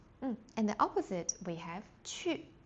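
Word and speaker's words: 去: Qu is to go. Qu. I know the Q in Pinyin sounds a bit tricky. So, it's kind of like chi, like when you pronounce in a smiley face way.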